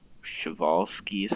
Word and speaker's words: Przewalski: Here is the Przewalski's horse, I think it's pronounced, or Przewalski.